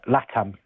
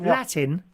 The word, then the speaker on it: LATAM: Uh Latam. They're the national carrier of South America. Latam Airlines. How do you say it? Latin. Latam. So it's L A T- M. It stands for Latin America.